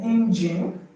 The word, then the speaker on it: engine: And please note that words like engine, challenge, syringe do not have the answer because the G sorry because the G in them the G in there is pronounced G and not G.